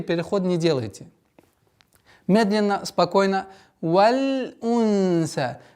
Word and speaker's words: وَالْأُنْثَى: валь унса. При ускорении, резком ускорении получается валя. Валя унса, валя, что является распространенной ошибкой. Избегайте этого.